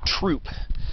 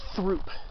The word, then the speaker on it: Throop: who founded truth University the peak is technically pronounced troupe like a troupe a soldier technically pronounces troupe not through most people probably pronounce it through he was